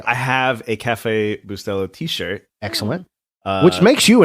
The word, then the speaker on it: Bustelo: Is the accent on the E? Bustelo? I think so. I think that's correct. Okay. I've never correctly even thought about how to pronounce it, but a lot of times I've said Bustelo. No, I think it would be on the middle. Yeah, it would be on the middle. Bustelo.